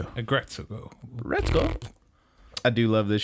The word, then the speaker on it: Aggretsuko: They say her name Retsuko, so Aggretsuko.